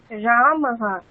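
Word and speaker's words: রামঃ: উচ্চারণ হকারের মত হবে যেমন রাম এখানে উচ্চারণটি হবে রামহ অর্থাৎ যে স্রবর্ণের পরে বিসর্গ থাকবে বিসর্গের স্থানে হকার বসিয়ে হকারের পরে সেই স্রবর্ণটি যুক্ত করে উচ্চারণ করতে হবে।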